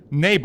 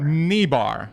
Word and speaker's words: Niebauer: shoot so today with me I have neighbor am i pronouncing your family name correctly it's actually me bout me bar okay my apologies English is not my first